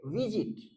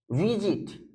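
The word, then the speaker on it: visit: भी ध्यान रखना आप जैसे विजिट विजिट इसको कैसे प्रोनाउंस करना है विजिट विजिट समझ में आ रहा है बात यानी इसके लास्ट सिलेबल पे जोर नहीं पड़ता है इसके इसीलिए इसमें जब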